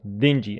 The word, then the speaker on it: dingy: it means dark and dirty in bad conditions dingy a dingy room a dingy room and synonym